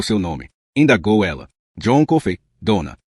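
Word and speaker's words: Coffey: John Kofey dona. Kofei como que se bebe com leite. É dona, só que se escreve diferente.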